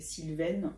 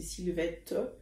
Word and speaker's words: Sylvette: moi je m'appelle syv je je prononce bien le te parce que souvent je dois prononcer trop vite et et beaucoup de gens dans les messages m'appelle Sylvine ce que je comprends c'est parce que je je dois prononcer trop vite mais c'est Sylvette et puis y a